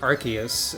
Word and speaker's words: Arceus: to edit things quickly enough in they've officially pronounced it arceus in at least one trailer for the game